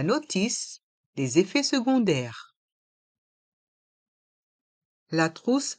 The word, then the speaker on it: trousse: les effets secondaires la trousse à pharmacie la trousse à pharmacie dans le mot trousse le O et le U se prononce ou la Crousse a pharmacie